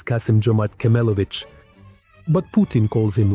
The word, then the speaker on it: Kassym-Jomart Kemelevich: Let me remind you, his name is Kassym-Jomart Kemelevich.